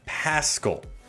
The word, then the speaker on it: Paschal: It is Josh Paschal.